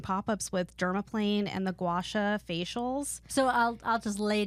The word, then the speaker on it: gua sha: Gua sha.